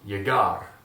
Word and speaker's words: llegar: Now, as you can see, all those verbs end with the consonant R, so the accentuation is going to be on the last syllable. All right? Pretty easy so far. One more time, llegar.